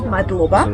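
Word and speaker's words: მადლობა: Madloba. Madloba.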